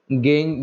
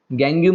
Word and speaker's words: gangue: गंगू बोल दो, उसको गंगू बोलते हैं। जल्दी बताओ, समझ में आया सबको? गैंग्यू मत बोल देना, ठीक है ना, आपको जो अच्छा प्रोनाउंसिएशन लगे, गैंग is better pronunciation, गंगू बोल दो आपको अगर याद रखने की।